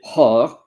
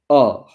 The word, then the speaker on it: hors: And the nugget is that you don't pronounce the H. So you don't say or, you say or.